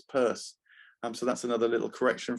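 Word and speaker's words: Peirce: I spelled it Pierce when actually it's pur.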